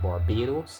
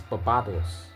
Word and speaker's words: Barbados: This island that I live on called Barbados is supposed to be pronounced Barbados, but it's really Barbados, because this island is named after a fig tree called the bearded, right?